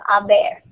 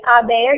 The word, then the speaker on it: haber: you're going to conjugate haber in the present and then use the past participle. So these are the conjugations of haber. Has, ha, hemos, habéis, han. When pronounced, the H is silent.